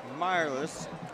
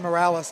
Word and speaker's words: Morales: Number 46 is Nathan Mireless. I think that's how you say it. Nathan Morales. I had him in class, so it's Nathan Morales.